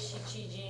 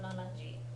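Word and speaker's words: 七時: Notice it's always shichiji. It's not nanaji.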